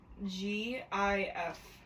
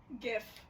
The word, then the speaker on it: GIF: of like pronouncing things how do you pronounce g i f gif gif s it's a G you don't say giraffe all right well you